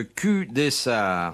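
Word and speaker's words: Cul-des-Sarts: Question de Monsieur Delahaye, de Q Dessart. Tiens. Ça s'écrit CUL, plus loin DES, plus loin SARTS.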